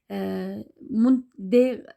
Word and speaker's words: Mund: Mund, D harfi sözün ahirki vaqtda T telaffuz qilindi şu an.